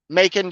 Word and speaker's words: Macon: factory um okay so here's how to say it you are making bacon okay so it's making Macon Georgia throat goats in